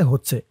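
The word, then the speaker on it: ح: আর এটা হা নুক্তা ছাড়া হার ভিতরে কোন নুক্তা নেই। হার আওয়াজটা গলার ভিতর থেকে চিকুন হয়ে বের হবে।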